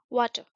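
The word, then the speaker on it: water: है वाटर वाटर पानी वाटर ठीक है आर साइलेंट रहता है वाटर वाटर is necessary for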